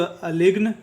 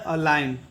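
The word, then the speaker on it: align: उच्चारण नहीं होता है जब भी जी अगर एन के पहले आएगा तो जी जो होगा वह साइलेंट होगा वर्ड में ठीक है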